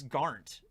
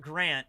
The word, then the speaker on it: Garnt: Because every time I think I see him on Twitter, he spells it like G-A-R-N-T. And it's like, no, it's not Grant. It's Garnt. Yeah. I might not be pronouncing it right, but it's not Grant. I know that.